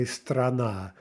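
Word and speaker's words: страна: Okay, there we have 2 syllables, but the first is directly before the stressed syllable, so we say strana.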